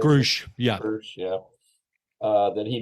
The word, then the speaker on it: Grusch: Grusch, yeah.